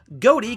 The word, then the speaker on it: Ghoti: godi the o comes from the plural of woman women and the ti comes from nation so if you take those sections out of their base word and stick them together goatee can be pronounced like fish it's all very funny